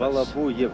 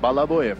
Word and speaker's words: Balabuyev: Balabuyev. Balabuyev is the exact. Balabuyev is the pronunciation.